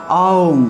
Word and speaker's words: ওম: তিনটি অক্ষরের সম্মেলনে অর্থাৎ আউম উচ্চারণটা হলো আওম অনেকে ওম বলে এভাবে ওম হবে না এটা হলো আওম আ